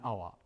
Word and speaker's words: hour: like in here an hour because we don't pronounce the h and our like in